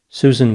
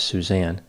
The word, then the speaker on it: Suzan: her name to suzanne she spelled it s-u-z-a-n which some people would pronounce susan but apparently she did pronounce it as suzanne growing up suzanne's family